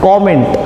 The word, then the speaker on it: comment: इसे हम कमेंट नहीं बोलते, COMMENT। The correct way एंड the smartest way to pronounce this one इज कमेंट।